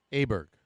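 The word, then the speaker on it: Åberg: Aberg. Oberg. Is that how you say it? It's Oberg.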